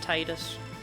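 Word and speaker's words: Tidus: We were talking about Titus and how it's pronounced Tedus, but that sounds stupid, so I will never.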